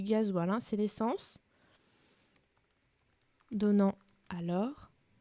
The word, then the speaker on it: gazole: Alors attention, ça s'écrit gazole, mais c'est du gasoil, hein, c'est l'essence.